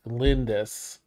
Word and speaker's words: Glindys: And if she didn't say her name, it's Glindys.